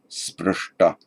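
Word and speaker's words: स्पृष्ट: And you see in this word, these words I'm underlining here, wherever you get actually a sh, a palatal sh, followed by a t, as in sprish, sprishta, it retroflexes the whole lot.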